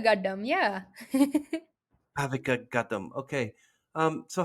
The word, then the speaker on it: Gaddam: Bhavika Gaddam. Did I say it right? Yeah, yeah. Bhavika Gaddam.